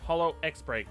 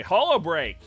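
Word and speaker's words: holoX Break: Or Hollow X Break, but I don't think that you pronounce the X. I'm pretty sure it's silent. Anyway, Hollow Break!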